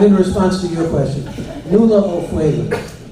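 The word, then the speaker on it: Nuala O'Faolain: But in response to your question, Nula O'Fwayland. N-U-A-L-A, O'Fwayland is spelled just like it sounds. O''F-A.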